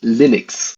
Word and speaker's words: Linux: and I pronounce Linux Linux hello this is Linux toal and I pronounce Linux as Linux like it's lus but you pronoun it Linux cuz there was that